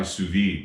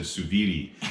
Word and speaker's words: sous-vide: of our viewers commented we should try sous-vide and i i didn't even know how to say it i said tsubidi so you know i